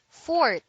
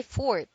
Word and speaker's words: forte: not his fault fourth the word is spelled Forte but the E is pronounced only when speaking of music as a Forte passage